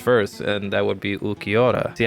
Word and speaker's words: Ulquiorra: to the bleach first and that would be ukiora see how I pronounced that correctly some people don't know how